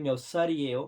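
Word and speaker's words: 몇 살이에요: इसी तरह है म्योत्सल इएयो, म्योत्सल इएयो, इसको बोलने की क्या प्रोनाउंसिएशन है, वो इस तरह बोलते हैं कि म्योत्सल इएयो, म्यो यो को थोड़ा दबाते हैं, म्योत्सल इएयो, कि आपकी उम्र कितनी है।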